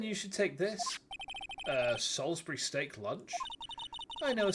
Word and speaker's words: Salisbury: for some reason I've I've seen Americans call this Salisbury steak who the pronounces Salsbury as Salisbury uh M Star officer